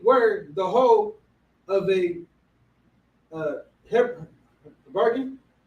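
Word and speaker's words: habergeon: it, as it were the whole of a hebergin. Hebergin. That's how you pronounce that.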